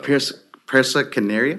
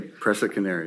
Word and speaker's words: Presa Canario: Yeah, but I would like help with the pronunciation of the breed because He's a Presa Canario. Presa Canaria? Presa Canario.